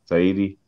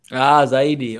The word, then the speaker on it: zaidi: Saidi? There we go. Did I say that correctly? The last word, you say kusoma sahizi or sana? You say sahizi? Saidi. Zaidi.